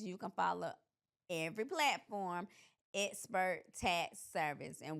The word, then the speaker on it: Xpert: can follow every platform expert tax service. And we're not spelled with the E, we're spelled with the X. So it's X P E R T and on every platform it's expert tax service.